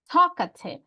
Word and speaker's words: talkative: in in talk ative is it on the first second or third syllable talkative right on the first one right no we say